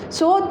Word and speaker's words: es: So tu, the pronunciation is tu, and this meaning is you. Along with tu, we always use es, and the pronunciation of es is s.